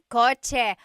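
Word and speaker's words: kotse: The cha-ch sound is a ts combination. Coch car is coch with a ts spelling.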